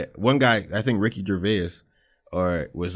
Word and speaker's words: Gervais: and some other guy named Garvis or Ricky Gervais. Stupid. What? What'd I say? Garvis? Ricky Gervais. Gervais? Yeah, Gervais. The S is silent.